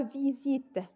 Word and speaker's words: visite: L'exemple suivant, c'est la visite. Si vous remarquez dans ce mot, on a de même la lettre S est située entre deux voyelles, donc il se prononce comme un Z.